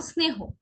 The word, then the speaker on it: স্নেহ: কোনো কোনো ক্ষেত্রে শ-এর উচ্চারণ আবার স-এর মতো হয়। যেমন স্নেহ, নিয়ম অনুযায়ী তো শ-এর মতো হওয়া উচিত ছিল, কি বলা দরকার ছিল? স্নেহ। আমরা কি কেউ স্নেহ বলি? কেউ আমরা স্নেহ বলি না, আমরা বলি স্নেহ, স্নেহ, তাই না?